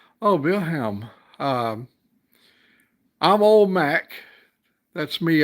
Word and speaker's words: Wilhelm: Oh, in German, pronounced Wilhelm. Oh, Wilhelm.